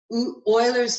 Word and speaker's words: Euler: That number is called Eulers number. Eulers number. I think it's pronounced Euler.